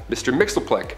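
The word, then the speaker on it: Mxyzptlk: Fifth Dimension close enough his real name doesn't even translate into Earth's languages but we collectively pronounce it as Mr mixeli he can manipulate anything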